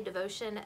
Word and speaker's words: Devocion: sounded french coming out it's supposed to be spanish so just know that it is the spanish word for devotion and it's actually named